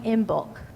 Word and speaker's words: Imbolc: about in The Chalice lighting the holiday of in bulk folks want to say that with me in bulk I was proud of myself when I learned how to pronounce that the in bulk is a holiday grounded in the Pagan Celtic